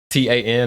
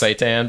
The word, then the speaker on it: seitan: It's like it's Seitan. It's pronounced Seitan, but Seitan. you know, it's almost impossible not to note that. Oh, that sounds a lot like Satan.